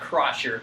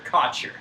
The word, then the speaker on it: Kotcher: Not Crotcher, Kotcher.